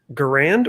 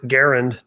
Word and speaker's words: Garand: fire here is it is it grand or is it garand how do you pronounce it correctly i think either one's acceptable at this point because what happened is